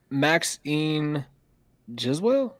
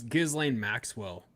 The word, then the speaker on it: Ghislaine Maxwell: And we are talking about, can anyone pronounce that first name? Maxine Giswell? Maxine Giswell, I think. Hold on, let me I see. thought it was Ghislaine Maxwell.